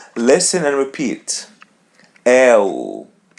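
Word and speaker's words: eu: L L As you see we pronounce letter E as E and letter U as W L L.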